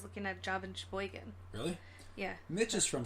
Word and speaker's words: Sheboygan: It's she, and then it's the word she, and then boy. So like girl, boy, and then gan. Sheboygan.